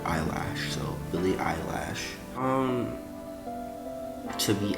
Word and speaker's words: Eilish: is Billy eyelash and now you pronounce it Eilish but I like I prefer to call it eyelash so the eyelash should